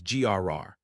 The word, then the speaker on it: LR: The fan club's name is LR, pronounced as grr. Cause your sexiness makes everyone here go grr.